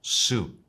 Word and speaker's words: suit: En inglés la pronunciamos suit y significa traje como prenda de ropa.